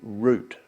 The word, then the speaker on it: route: that's a route now if you look at the way that this is spelt it's got an e on the end of it so it has to be root so those of you